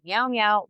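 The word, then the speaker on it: Miau Miau: It's It's spelled M I Au M I Au. So Meow Meow Malvac.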